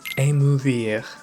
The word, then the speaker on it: émouvoir: It has the typical French re.